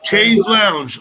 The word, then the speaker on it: chaise lounge: Is it spelled like Trees Lounge? But it's Chase Lounge, like a thing you sit by your swimming pool lounge, right?